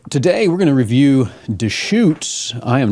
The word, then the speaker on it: Deschutes: interesting conversation at times too uh it is pronounced dutes it's spelled D S C hu Tes or Theus but anyways pronounced dutes in 1988 Gary fish established a small Brew